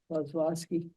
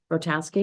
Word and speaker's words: Kozlowski: How do you say it? Kozlowski. Rotowski? I would- Kozlowski. There's no T. in it.